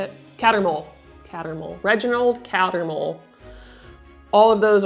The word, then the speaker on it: Cattermole: Corbin Yaxley, Albus Runcorn, Mathilda Hopkirk, and Reginald Corkemole, I think is how you say it. Cattermole.